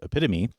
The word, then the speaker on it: epitome: Now, one sound that we can be sure of is the long E sound at the end of epitome.